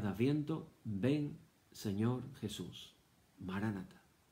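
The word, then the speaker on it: Maranatha: Maránata. O algunos dicen Maranatá. Depende de cómo lo pronunciemos. Palabras en arameo.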